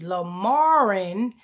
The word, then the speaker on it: Lamron: Quake cure lamarin Quan say with me lamarin spell it l-a-m -r-o-n right yes l-a-m-r-o-n La Maron